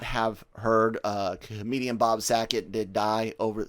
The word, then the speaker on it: Saget: But for those that may not have heard, comedian Bob Saget did die over Saget. Sorry if I mispronounced. You did. Put too much of a C in there.